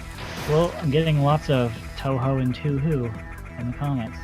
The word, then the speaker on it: Touhou: Is that pronounced Toho, Tuhu, or Toho? I just spelled. Toho. It's Touhou. It's Toho.